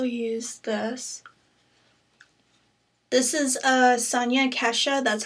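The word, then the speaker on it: Sonia Kashuk: And I also use this, this is a Sonia Kesha, that's how you say her name, um, brush.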